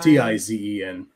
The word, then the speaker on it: Tizen: Is it spelled like Tyson, like T-Y? Tizen.